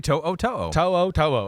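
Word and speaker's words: To'oTo'o: do it yeah Henry toe Oto okay okay I know it's one of those that's like it actually reads exactly the way it's spelled yes but you don't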